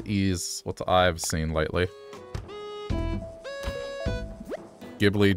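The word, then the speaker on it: Ghibli: what I've seen lately gibli jibli I think it's pronounced jibli it's a good movie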